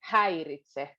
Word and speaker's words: häiritse: But then we go häiritse. So it goes back to the front.